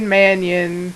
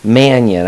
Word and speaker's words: Manian: Manian. Manian. I always say it like Mania or Manian. It's Armenian. Is it Armenian?